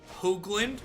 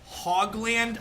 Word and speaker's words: Hoogland: My last name, correctly pronounced, is Hoogland with a long O sound. Hoogland. When I say Hogland on stream, that's me making fun of people, because that's how lots of people pronounce my name.